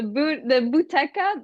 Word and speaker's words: Buteca: So the Buteca, like the first few syllables come from booty, and then the end comes from Rebecca, basically.